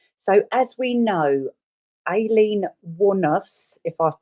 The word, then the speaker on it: Wuornos: So, as we know, Ailen Wanos, if I've pronounced Is that right? Waros.